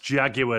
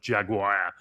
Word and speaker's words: Jaguar: And finally, it's pronounced Jaguar, not Jaguar.